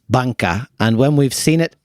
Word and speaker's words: Bunca: So the first place we'd chosen is rather confusingly written in English as Bunca, and you could also potentially pronounce it that way in Japanese, but we think it's also meant to be pronounced Banka.